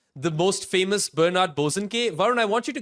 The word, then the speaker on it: Bosanquet: And he's not even like the most famous Bernard Bosanquet.